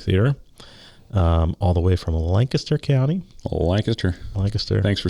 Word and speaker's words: Lancaster: Brandon Martin, President and CEO of American Music Theater, all the way from Lancaster County.